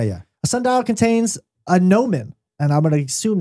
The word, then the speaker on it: gnomon: A sundial contains a gnomon. And I'm going to assume that's how it's spelled. Okay. Nope. Gnomon is not spelled with an N. It doesn't start with an N. G.